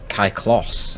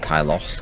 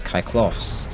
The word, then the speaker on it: Kyklos: Kyklos, not Kylos, Kyklos. DeltaKyklos.